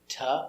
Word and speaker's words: to: The to is not to, it's ta or da.